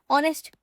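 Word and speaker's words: honest: अभी जैसे हम लिखें आर, अभी आर में ये जो एच है वो मेरा साइलेंट है, तो हम एन लिखते हैं ना, एन लिखते हैं। ऑनेस्ट, ऑनेस्ट में भी ये मेरा साइलेंट है तो एन आता है।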